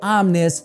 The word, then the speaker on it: Omni: And in the comment section of that video, you guys pointed out that it's actually pronounced Omnis, which does make a lot of sense. However, I've been pronouncing it Omni Ones ever since it made